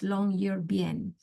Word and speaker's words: Longyearbyen: Actually, the right pronunciation is Longyearbyen, Longyearbyen.